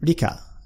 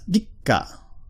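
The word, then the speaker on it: りっか: The small tsu in the middle just doubles up the consonant sound that follows it. So, in this case, that ordinarily, for example, if I wrote that, that would be pronounced rika, rika. But when it's got a small tsu in the middle, it's pronounced rikka, rikka.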